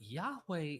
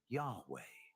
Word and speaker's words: Yahweh: it's translated into YHW, which properly pronouncing his name as Yah-O or Ye-O, which is literally the god the Israelites worshipped, later being pronounced as Yahweh.